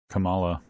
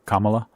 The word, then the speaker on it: Kamala: because i'm the the way the vice president pronounces her name spelled the same way kamala always throws me and i have to think no no it's not kamala it's kamala okay but the way she's uh